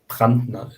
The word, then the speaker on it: Brandner: How's it pronounced? Brandner? Brandner. What? Brandner.